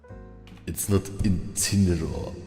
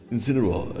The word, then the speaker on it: Incineroar: It's not Incineroar. It's Incineroar. Also in Japanese it's Gaugain.